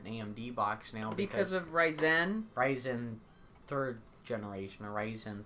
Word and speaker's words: Ryzen: So I want to use my modern Ryzen 7. And people also probably mad that they say Ryzen and not Ryzen.